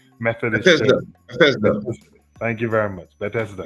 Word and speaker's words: Bethesda: Probably your pronunciation might be better than mine. So it's Bethesda, Methodist Church. Bethesda, Bethesda. Bethesda.